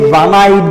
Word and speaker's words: one-eyed: Next, A one-eyed man. One-eyed man. Observe this word. Here this word starts with O. Basically O is a vowel sound, but here we pronounce it as a consonant sound.